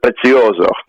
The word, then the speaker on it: Prezioso: And it's pronounced Prezioso.